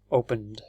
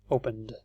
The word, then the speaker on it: opened: number three is it so how do we pronounce this exactly it's a D opened opened next one is washed